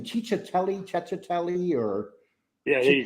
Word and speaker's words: Cicciatelli: Cicciatelli, or? Yeah, Chicky. there you go. Cicciatelli.